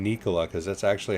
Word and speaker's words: Nikola: things big things anybody selling trucks yeah uh nicola i gotta start saying nikola cause that's actually how it's pronounced did you know that i did not